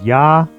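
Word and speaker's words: Я: here first one is ya which is um a backwards R it's a backwards capital r and it makes the y a sound ya as in yard now the next one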